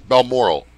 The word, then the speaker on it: Balmoral: Extra syllable. One more syllable in that word. Balmoral.